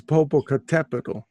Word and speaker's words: Popocatépetl: Oh, Popo, because it's Popocatépetl. You have to put the accent on the tepetl. That means mountain. Yeah, so Popocatépetl, and it's next to Iztaccíhuatl.